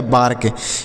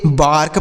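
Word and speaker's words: bark: तो यह हो गया बार्क बी ए आर के बार्क हो गया ना तो इसे बार्क पढ़ेंगे ना तो इसे बेर के पढ़ेंगे इसे आपको बार्क पढ़ना है क्या पढ़ना है यह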